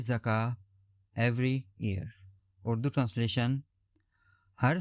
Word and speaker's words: zakah: Urdu meaning जकात। Pronunciation जका grammatical category noun definition N obligatory charity